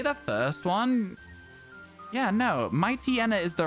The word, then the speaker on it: Mightyena: We've always said Mightyena. Hands up if you've ever pronounced Mightyena any other way. Should we be saying Pooch Hyena and Might Hyena? There's no way we should, but, like, should we? Because they are based on hyenas.